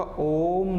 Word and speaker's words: ओम: तो उसका जो उच्चारण होगा कैसे होगा, ओम नमः शिवाय करके। क्लियर है, हम ओम नमः शिवाय बोलते हैं, लेकिन होता क्या है, अगर हम सही से उच्चारण करें तो क्या होगा, ये ओम नमः शिवाय करके होगा।